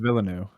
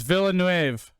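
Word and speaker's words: Villeneuve: dude i wanted to talk about pronounced villanu is it not villanu no it's villanuev uh damn because uh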